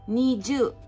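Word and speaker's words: 二十: this to me plus me plus 2 means niju so pronounced opinion need you from it on you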